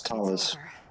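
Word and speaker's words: Thales: Talus, that was how to pronounce it. It was Talus.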